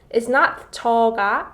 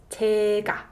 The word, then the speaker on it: 제가: So the correct way to say it is not 저가, but it's 제가.